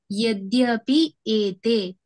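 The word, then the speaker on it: यद्यप्येते: इसका आपको ना पहले श्लोका में यद्यप्यते जो है वो उच्चारण में थोड़ा सा डिफिकल्ट होगा। वो क्या है? यद्यपि एते। अगर वैसे पढ़ेंगे तो आप उसको उच्चारण कर पाएंगे।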